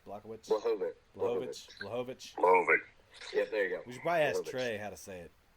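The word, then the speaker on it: Błachowicz: Blachowicz. Blachowicz.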